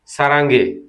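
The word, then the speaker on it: 사랑해: তাহলে আমি তোমায় ভালোবাসি বা আমি তোমাকে ভালোবাসি, সেটি স আসা র আয়ং রাং সারাং হে। উচ্চারণটি কি হবে? সারাঙ্গে, সারাঙ্গে। কিন্তু এখানে কি আছে? সারাং হে।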